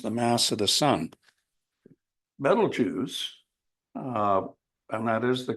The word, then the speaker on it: Betelgeuse: Betelgeuse, and that is the correct pronunciation, I am told, is not as big.